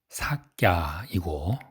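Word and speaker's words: Śākya: 석가의 원 발음이 삭갸이고 모니는 성자란 뜻입니다.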